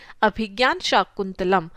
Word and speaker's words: अभिज्ञान शाकुंतलम: Pronunciation पे ध्यान दें, अभिज्ञान शाकुंतलम।